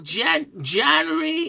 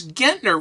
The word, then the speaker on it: Gentner: And so this one person called and he says, I want to speak to January, and she says, it's Gentner.